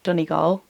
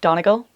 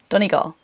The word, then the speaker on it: Donegal: On the topic of Studio Donegal, just a quick note, the pronunciation of Donegal is Donegal. I can understand why people say Donegal. It looks like Donegal, but it's Donegal.